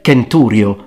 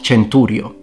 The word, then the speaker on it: centurio: pronounced like a k so it's kikero not chichero kaisar not cesar canturio not centurio you get the point well